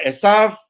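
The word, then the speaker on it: עשו: Nama Esaf juga bisa ditulis, ya, dibacanya tetap Esaf, tetapi ditulis menjadi Ayin Yud Sin Vav, dan tetap dibacanya Esaf.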